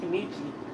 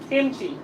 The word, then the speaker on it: kimchi: Oh, I'm here pronouncing it. Kimichi. Kimchi. Kimchi.